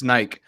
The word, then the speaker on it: Nike: because in Latin America and especially in Spanish, it's just Nike. That's it. It's not Yeah. two syllables. It's Nike.